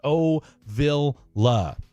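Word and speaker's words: Ovilla: I'm here in Midlo 2 and it's pronounced O Villa. So, okay, there we go. So, A Villa and then a massive shout out to Blake and Freddy as well.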